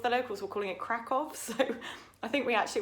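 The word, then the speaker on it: Kraków: Poland, we all went thinking it was called Krakow, which is, I think is how we pronounce it in the UK, but all of the locals were calling it Krakow, so I think we actually went to Krakow in Poland.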